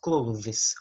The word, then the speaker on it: clothes: Você coloca a língua entre os dentes para pronunciar esse TH aqui. Então, fica clothes. Closes. Então, that's the pronunciation of clothes.